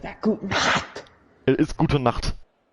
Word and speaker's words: Gute Nacht: It is Gute Nacht. It's not Gute Nacht. It's not Guten, it's Gut. It's Gute. Guten is like Guten Tag. It's Gute. There's no N, but you do pronounce the E.